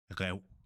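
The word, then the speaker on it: ræv: It's pronounced rev, rev. You can hear it's coming from my throat. Rev. Not like the English, let's say, rake. If you say rake, you can hear it's coming from up here, but the Danish has to come from deeper in your throat.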